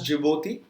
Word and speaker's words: Djibouti: Djibouti these salad guys it is pronounced as Djibouti and this is very